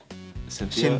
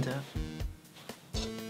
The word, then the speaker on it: Cynthia: Cynthia. Shinda. Are we both? No. Shinda. Yeah. Okay. Okay, that's not how you say her name. No. Cynthia. Cynthia. Cynthia. Cynthia. Not Shinda.